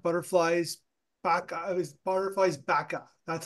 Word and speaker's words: Baqa: It was butterflies Baqa. That's how I pronounce it, right?